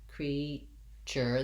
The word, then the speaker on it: creature: So here's our EA spelling, which says the sound E. I'll write it as 2 E's. We have first syllable stress, creature. This TU, we've seen this in many word of the day videos, that the TU saying ch, the voiceless CH sound. So I would say creature.